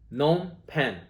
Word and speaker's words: Phnom Penh: it a jimmy squad gnome pen the staple vietnamese cambodian food first place you think of when you think of vietnamese cambodian food in vancouver phnom penh spelled with two-piece go figure um taste great these